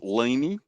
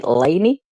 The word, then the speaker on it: Leanie: So it is Leanie. That's the best way to pronounce it, the proper way to pronounce it. Leanie. Leanie? Well, I say Leanie, you say Laney.